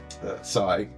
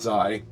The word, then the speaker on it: Sai: What do you got for us, Sai? Not Zai. Not Oh, Zai.